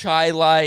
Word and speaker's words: Chili: southern central america chile c-h-i-l-i and it's called chi lai indiana which is uh just